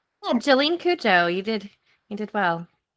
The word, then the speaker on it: Jolyne Cujoh: Uh, listen, correct me if I say her name wrong. Okay, Jolene. Um, Cooa. Did I say that right? Yeah. Jolene Kujo, you did you did well.